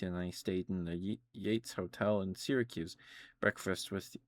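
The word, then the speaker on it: Yeats: And why is one pronounced Keats and the other Yates?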